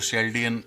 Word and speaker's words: Chaldean: इसके बाद में दूसरा जो सबसे पॉपुलर सिस्टम है, दैट इज कैल्डियन न्यूमरोलॉजी। कुछ लोग इसको शेल्डियन या चेल्डियन न्यूमरोलॉजी भी बोलते हैं, that is a different pronunciation.